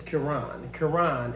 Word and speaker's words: Kieran: is Kieran. And the reason why... Kieran. It's not Karen, K-A, it's K-I, but it's Kieran.